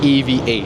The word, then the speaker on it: EVA Air: Jadi kalau bahasa Inggris ini bukan EVA ya, ini EVA, di spell per huruf. Bukan EVA bacanya, EVA.